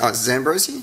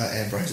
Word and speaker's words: Ambrosi: Is it Zambrosi? No, Ambrosi.